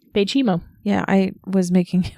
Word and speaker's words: Baychimo: when she was renamed as bimo can you spell that b a y c h i m o okay bimo bimo yeah I was making it way too complicated